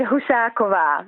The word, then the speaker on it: Husakova: Now, I know that a lot of Australians call it Husakova, but how do you say it? You say it Husakova, which is the Czech pronunciation.